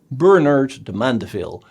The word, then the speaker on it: Bernard de Mandeville: Bernard de Mandeville, the name sounds a bit French, but you should pronounce it the English way, Bernard de Mandeville, because he worked as